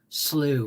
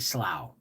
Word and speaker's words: slough: But there are some I'm going to have to reread the chapters because I pronounced slew wrong. I kept saying slough because it was spelled S-L-O-U-G-H. And to me, that's cough, rough, And so slough was the close, I wouldn't say sloth, right?